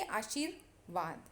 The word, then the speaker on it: आशीर्वाद: अब इसका उच्चार हम जैसे विसर्ग, जैसे दो हलंत आते हैं, उसका उच्चारण करते समय जैसे अतः ऐसा उच्चारण करते हैं, वैसे आशीर्वाद।